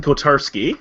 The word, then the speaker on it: Kotarski: My name is Kotarski, or Oh, Kotarski. that's how you pronounce it.